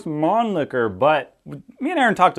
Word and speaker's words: Mannlicher: podcasts um so it's you could say it's Mon liquor because I guess that's a little bit a better way of saying it sounds a little less funny but really the German pronunciation of it's gonna be a lot closer to something like Mon liquor so you know you